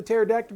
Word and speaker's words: pterodactyl: So anyway, How come you can't hear the pterodactyl go to the bathroom? Because the P is silent.